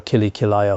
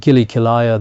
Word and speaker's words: Kili Kilaya: The mantra is meant to be Om Vajra Kili Kilaya Hum Fat. However, someone mispronounced it. He was chanting Om Vajra Kili Kilaya Hum Fat. Yet while he chanted Gili Kilaya, the mountains, rivers and